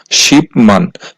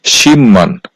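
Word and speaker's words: 십만: আর বিউব বাচ্চিমের পরে আছে মিউম এই শব্দটার উচ্চারণ হওয়ার কথা ছিল শিপমান কিন্তু বাচ্চিমের রুলস হচ্ছে বিউব বাচ্চিমের পরে মিউম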